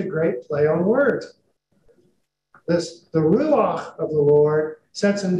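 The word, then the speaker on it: רוח: say this, because remember, it's got to come from the back of the throat. Ruach, right? You're supposed to be spitting when you say this.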